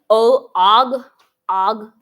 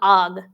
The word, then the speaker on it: Og: King Og defeat. King Og. It's literally OG. Og. Mhm. I think that's how you say it.